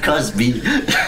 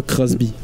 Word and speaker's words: Cosby: C'est Cosby. Bill Cosby, c'est ça que j'ai dit, pas Crosby.